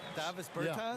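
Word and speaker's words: Dāvis Bertāns: Oh, well, now, at this point in my life, it's Davis Bertans. Is that how you say his name? Davis Bertans. Davis Bertans?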